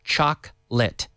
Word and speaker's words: chocolate: we don't say - we don't say chocolate we say choc litt choc Chuck lit lit like yesterday I lit a fire to light every day light yesterday I lit light lit light lit choc lit Chuck lit forget the Oh very often with pronunciation